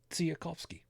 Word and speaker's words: Tsiolkovsky: little bit, but no, I pronounced it correctly. Tsiolkovsky.